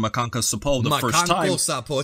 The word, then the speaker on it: Makankosappo: Makanko Sapo, it's a Sapo, hard one to say. Yeah, you gotta say it like that, bro.